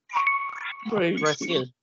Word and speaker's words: Brasil: Brasil. Cuando pronuncian esta Z, como que su garganta les vibra.